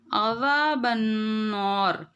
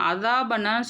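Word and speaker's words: عذاب النار: வகினா அஸாபன்னார் தால் வந்து நுனிநாக்கில் வந்து கரெக்டாக சொல்லணும். அதே மாதிரி ஐனும் அதே மாதிரி தான் நல்லா நடுத்தொண்டையில் கரெக்டாக ப்ரொனவுன்ஸ் பண்ண அஸாபன்னான்னு சொல்லாமல் அஸாபன்னார். தால் பக்கத்தில் அலிஃப் இருக்குது, அலிஃப் மத்து அஸ்லி 2 கவுண்ட் நீட்டணும்.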